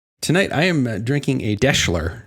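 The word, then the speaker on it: Deshler: Tonight, I am drinking a Deschler. It's kind of a variation on a Manhattan, and it a little bit sort of rhymes with Daimler.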